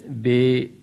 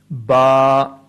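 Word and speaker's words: باء: For example, do not pronounce them at all as be, te, se, he, khe, toin, zoin. Instead, pronounce them in the following way: ba, ta, sa, ha, kha, ta, za.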